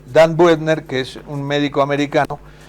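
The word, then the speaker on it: Buettner: Dan Buetner, yo lo yo lo pronuncio como si fuera en español. Dan Butner, que es un médico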